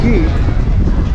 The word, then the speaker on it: Cay: Although I think it's pronounced Key.